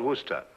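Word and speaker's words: Worcester: else too doc but it's spelled w r c e s t e r where sister oh yes I see yes Lord Worster mhm his M be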